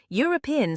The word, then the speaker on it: European: European starts with an E, but we pronounce it European. Once again, that's a Y sound, so the correct article is a.